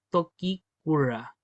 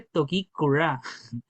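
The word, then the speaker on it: toki kura: Y aquí tenemos el hacha de mando, muy conocida como tokiura. Tokiura. Hay gente que dice tokura porque le cambian la entonación, pero sabemos que no hay ninguna diferencia, como preguntaban recién entre decir tokikura o tokikura.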